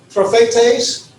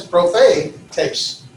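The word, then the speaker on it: προφήτης: Prophetes, 3 syllables. Pro-phe, that's where the accent is. Prophetes.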